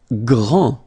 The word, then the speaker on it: grand: Grand, final day not pronounced, okay? G-R, gr, gr, gr, and then the nasal en, grand, okay?